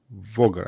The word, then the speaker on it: Voger: the promise here from vulgar voger i will say it is how we pronounce this so the promise